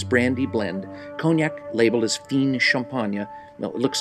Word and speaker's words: Fine Champagne: world's most illustrious brandy blend cognac labeled as fien champagne looks like fine champagne but it's pronounced fiend champagne by law must be comprised of only out